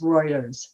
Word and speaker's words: Reuters: a call out that i pronounced reuters wrong it's reuters thank you jane um